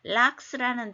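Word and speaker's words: lux: 룩스노스는 남성 명사로서 룩스노스인데 램프, 등불이라는데 영어에서 락스라는 단어가 있어요. 물론 이제 영어식으로 읽다 보니까 락스. 한국 사람들은 전구 사면서 룩스라고 하는 것도 같아요. 근데 이제 영어 발음은 락스인데 전등의 조도 이게 뭐 60도냐 뭐 이런 거 있잖아요.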